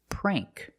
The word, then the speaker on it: prank: Another example is prank. A prank is like a joke. You play a trick on someone for fun. Sometimes it's mean. That's a prank. And it has a long a sound.